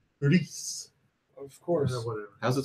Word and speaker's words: Gris: Which apparently you're supposed to pronounce Gris.